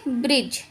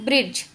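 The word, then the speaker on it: bridge: अब हम सीखेंगे डी साइलेंट, यानी कि जी से पहले आया डी साइलेंट होता है। किससे पहले आया? जी। जी से पहले आया डी साइलेंट होता है। जैसे कि अब हम ये डी हमारा साइलेंट है, इसको हम क्या पढ़ेंगे? ब्रिज।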